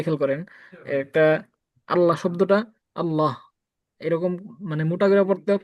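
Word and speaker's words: الله: আল হা পেশ হু আল্লাহু এইটা এটার উচ্চারণ লামের মধ্যে তাজদি আছে আলিফ লাম জবর আল লাম জবর লা আল্লাহ আল্লাহ আল্লাহ আল্লাহ আল্লাহু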